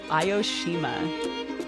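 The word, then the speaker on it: Aoshima: curious about this cat island it is called ioshima that's spelled a-o-s-h-i-m-a go look it up we'll make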